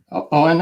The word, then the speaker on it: Eoin: It's pronounced Owen. It's pronounced exactly the way it's spelled, silent E in 2 syllables.